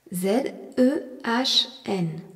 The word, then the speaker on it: zehn: Z-E-H-N. Dans le mot zehn, on remarque le Z qui se prononce T et le H qui prolonge la voyelle E qui se dit E.